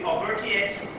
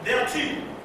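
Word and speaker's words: Bertiaux: But anyway, there's a book called the Voodoo Gnostic Workbook by Michael Bertio. Some say Bertiex. Another word is Michael Beltu, which is a French pronunciation.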